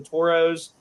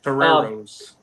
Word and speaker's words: Toreros: They got to Randall, who's been really, really tremendous for, I think it's the Toros. I've never really got a pronunciation on San Diego's mascot. Toreros. Sorry about that.